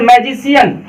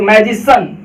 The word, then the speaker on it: मैजिसन: आप लोग बहुत सारे बच्चे जो है ना बोलते होंगे इसे मैजिशियन, मैजिशियन। बिल्कुल गलत, ऐसा नहीं बोलना चाहिए। क्यों, क्योंकि देखिए क्या लिखा हुआ है CIAN, तो यहाँ पे क्या निकलेगा, सी का उच्चारण स, और ये न है तो सन, तो मैजिसन, ना कि मैजिशियन।